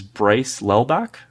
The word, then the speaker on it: Lelbach: So joining us today is Bryce Lelbach. Bryce, did I pronounce that right? Yeah, you got that right.